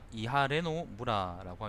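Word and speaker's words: 磐余邑: 반여읍이라는 것은 이하레노 무라라고 읽습니다.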